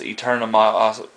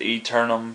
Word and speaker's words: Aeternum: of it has a before it but it's pronounced eternum verified this with the uh developer Brooks bishop and he told me it's pronounced eternum so that's you know a little play on